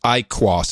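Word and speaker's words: IQOS: IQ you are yes I small I capital qos and you pronounce it I cross it's the shittiest branding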